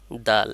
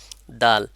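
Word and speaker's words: دال: এই হরফটির নাম হলো দাল এ হরফটির নাম কি সবাই সাথে বলবেন দাল দালটা কোথা থেকে উচ্চারণ হচ্ছে দাল হলো জিহ্বার আগা সামনের উপরে দুই দাঁতের গোড়ার সঙ্গে লাগাইয়া তাহলে কোথায় জিহ্বার আগাটা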